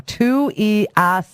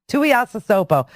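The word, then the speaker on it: Tuiasosopo: Well, apparently they're saying, this is how you say Ranaya's last name, Tuiasasopo. Tuiasasopo.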